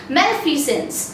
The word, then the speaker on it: malfeasance: तो जिस तरह से मैं प्रोनाउंस कर रही हूँ उस तरह से आप भी कीजिएगा, मेलफिजेंस।